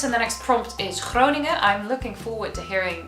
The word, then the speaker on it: Groningen: So the next province and the next prompt is Groningen. I'm looking forward to hearing people who aren't Dutch pronounce this.